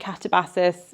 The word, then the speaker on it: Katabasis: Katabasis, I'm calling it Katabasis. We've all seen the video. She doesn't mind how anyone pronounces it.